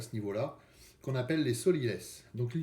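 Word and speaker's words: sot-l'y-laisse: Hein, ça s'écrit comme ça se prononce, sot, S-O-T, L'-Y, plus loin, laisse, L-A-I-2-S-E.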